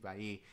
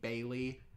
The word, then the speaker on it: Bailly: wrong because of JC Bailly. Double L in French is pronounced like a Y. So when anyone ever says JC Bailey, I always am like, hey, it's wrong. It's JC Bailly.